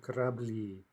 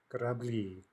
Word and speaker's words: корабли: The stress is on the final syllable. It's at least possible that this is going to be in-stressed. And it is, right? So the plural is going to be корабли, корабли.